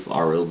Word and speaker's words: Arild: It's not Arlid, it's Arild. I always say his name wrong.